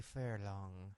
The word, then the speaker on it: Furlan: Thanks, Furlan, right?